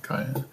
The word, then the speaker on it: Kai: is what's how do you say his name Kai yep the guy with the you know the